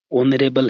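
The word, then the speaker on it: honorable: ओनरेबल है friends. इसका pronunciation क्या होता है? ओ से स्टार्ट होता है ओ से।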